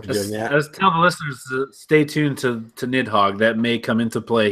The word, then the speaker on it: Nidhogg: bit that's how you say it it Hawk nidhogg yep no I played that a little bit